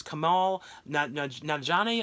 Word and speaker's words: Kumail Nanjiani: It's Kumail Nanjiani.